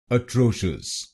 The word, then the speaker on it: atrocious: तो इस शब्दांश को शीयस नहीं बोलिए, इसको बोलिए शुस शुस। तो बनेगा अट्रोशियस अट्रोशियस अट्रोशियस अट्रोशियस अट्रोशियस अट्रोशियस। और यहां पर आपको दूसरे शब्दांश पर यानी TRO पर जोर डालना है।